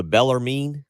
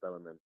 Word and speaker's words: Bellarmine: Louisville loses to Bellarmine, I believe is how I say it correctly. I think Bellarmine. Bellarmine.